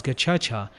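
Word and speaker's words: Gacaca: prisons and communal Jays the gacha card pronounced as gacha inspired by tradition and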